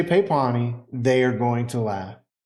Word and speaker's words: pepani: you say something wrong you can always say pepani and when you say papani they are going to laugh not because of